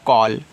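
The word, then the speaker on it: call: ये आपका तुरंत हुआ सी ए डबल एल को पढ़ते हैं कॉल अब देखो कॉल ऐसे लिखेंगे ठीक है क्यों लिख रहे हैं क्योंकि देखो ए डबल एल आपका ऑल होता है तो सी के बाद ए लगा है तो सी को हम का पढ़ेंगे तो यह आपका ऑल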